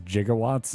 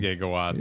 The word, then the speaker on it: gigawatt: gif like he does jigawatts oh he would be a gif dude oh yeah says jigawatt because it would be it is the it's Giga it's it is gigawatt gigatt